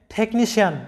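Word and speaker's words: technician: টেকনিশিয়ান, তোমরা জানো যে সিআই প্লাস অন্য কোনো ভাওয়েল থাকলে সিআই এর উচ্চারণ হয় তালব্যস্য এর মতো। তাই এখানে লক্ষ্য করো যে টেকনিশিয়ান এরকম হবে উচ্চারণটা, টেকনিশিয়ান, যেটার বাংলা অর্থটা হয় যন্ত্রবিদ।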